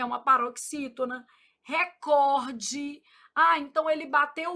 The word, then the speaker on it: recorde: Ô, Flávio, mas por que que todo mundo fala recorde? Não sei. Mentira. Se influência do inglês, né, gente? Mas o certo é recorde.